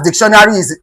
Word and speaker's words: dictionary: Dictionary is stressed on the word dic. It is called dictionary. Dictionary. Dictionary.